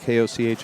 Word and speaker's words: Koch: yep inverted boot says grew up with a girl with the same last name pronounced cook yeah i know cook koch as well so there